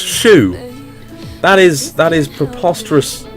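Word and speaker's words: choux: I've lived my entire life not knowing that chalk is pronounced shoe.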